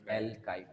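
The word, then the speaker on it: alkyl: लगा दिया, ठीक है, एल्काइल बोलेंगे इसको, क्या प्रोनाउंस करेंगे, एल्काइल।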